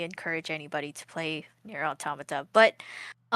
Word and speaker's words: Automata: Automatada. Sorry, I've been saying it wrong this whole time. Automata.